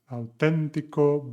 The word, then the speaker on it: auténtico: And another reminder regarding the pronunciation, as you see, basic, authentic, the intonation in Spanish is auténtico, básico, and they always have an accent mark in the third from last syllable of the word.